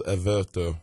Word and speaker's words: Everto: i guess i should it's averto alverto so a little bit of hispanic a little bit of